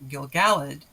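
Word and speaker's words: Gil-galad: syllable first syllable fashion first question of why melian has accent on her first syllable while gil gallade has accent on the second syllable the name alien comes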